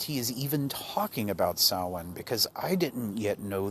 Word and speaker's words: Samhain: that i realized he is even talking about saawan because i didn't yet know the correct pronunciation of this term in reading up about